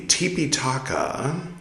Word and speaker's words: Tipitaka: 8, 9, we're reading the Tipitaka, which is the original Pali pronunciation of Tripitaka, which might be more familiar to you.